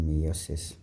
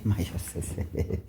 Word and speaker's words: meiosis: So there will always be a question on meiosis. Okay, it's not meiosis, okay? Don't say meiosis.